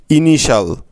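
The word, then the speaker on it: initial: এন আই ইনি এবং টি আই এল শাল ইনিশাল দেখলে তো বন্ধুরা কত সহজে তোমরা এত কঠিন শব্দের বানানটা সঠিকভাবে করে ফেলতে পারছো আশা করি এখন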